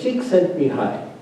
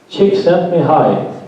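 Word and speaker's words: Csikszentmihalyi: I know Samir Charity taught me how to pronounce his name. Yes, Chick sent me high. Chick sent me high.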